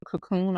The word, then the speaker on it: Kokoon: And so there's a hotel called Cocoon. I believe that's how you pronounce it. It's spelled Kokoon.